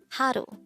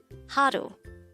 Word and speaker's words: 하루: word number 164 haru haru this is pronounced as the two-syllable word the first syllable is ha the second syllable is pronounce it with me haru the word haru is